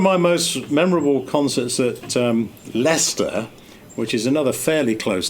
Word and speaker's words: Leicester: And remember, I've just said that the town is pronounced Leicester. Uh-huh. And it's spelled Leicester. Excuse me, but pronounced Leicester.